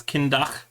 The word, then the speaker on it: Kyndagh: As you might imagine, it's it's like DACH is kind of how I have it.